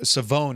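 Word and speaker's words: Shavon: Savone is how you say the first name, by the way. Savone Rell Jr. is the official NFL pronunciation.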